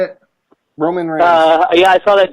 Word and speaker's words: Roman Reigns: Reigns Ramone Reigns how do you say it Roman Reigns uh yeah I saw that dude on um